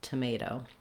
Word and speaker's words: tomato: Lastly, the second O in tomato is a clear vowel. It's not stressed, but we do use that diphthong O, so hold it a little long and use that clear vowel, tomato.